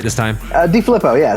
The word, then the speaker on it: DeFilippo: DeFilippo, yeah, it's close enough. So close. Okay, DeFilippo.